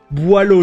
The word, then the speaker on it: Boileau: Boileau, chat. That's how we pronounce it.